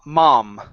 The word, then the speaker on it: mom: uh next one here instead of M the word is a ma mom mom good uh grabbing some breakfast